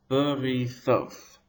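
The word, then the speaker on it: בריתות: Thoth is the tonic or stressed syllable, ri is the pretonic, and b is the pro-pretonic.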